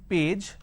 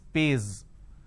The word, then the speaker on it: page: So instead of saying page, they pronounce this as pays.